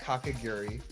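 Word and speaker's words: Kakegurui: for everyone's uh reference it's pronounced kakagiri oh wait which character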